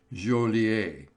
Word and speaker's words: Joliet: But he pronounced it Joliet.